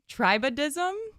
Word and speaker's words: tribadism: legal term yes fuzz bumping but no it's tribadism if I'm trim trism like the scientific name let's just assume you're not pronouncing any of these right so yeah we're